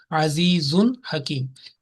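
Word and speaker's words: عزيز حكيم: So ha, and this za or tanween over za will be clearly pronounced, only 1 second. There will be no nasal sound. Azizun, no, that's not. Azizun Hakim.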